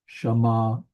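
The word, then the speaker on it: שָׁמַעַתְּ: So we have the ayin, and we notice that the chet ayin letters are hard to pronounce at the end of words, so they often add an A vowel, and that's what we get. Shama'at.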